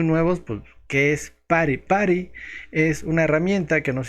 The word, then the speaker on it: PuTTY: Buenas tardes, bienvenidos a Programador Novato y en este tutorial vamos a aprender a utilizar PuTTY, que en realidad se pronuncia PARI.